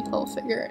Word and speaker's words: Hilfiger: this whole video and it's actually Tommy Hilfiger, no N. It's like a habit I got into because I didn't realize it didn't have an N in it and now here I am saying it wrong.